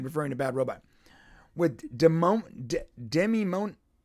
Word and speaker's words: Demimonde: With Demimonde. How the hell do you say this? That's a tough one. Demimonde? Demimonde, yeah.